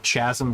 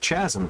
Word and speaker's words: chasm: I love the one on Conan that was Chasm versus Chasm too. Again, the CH and everything. I forgot who it was, but somebody was like, it's pronounced Chasm.